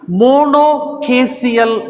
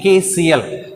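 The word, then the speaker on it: monochasial: in the cymose inflorescence, monocaseal sign. Okay, mono means single, caseal means branching. Okay, branching, caseal, C-H-A-S-I-A-L. We have to pronounce it as caseal sign, monocaseal sign.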